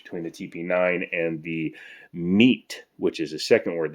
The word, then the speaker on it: Mete: the TP9 and the MEAT, which is a second word that was mispronounced. Hopefully, you guys have been keeping track. That's MEAT, as in to mete out justice.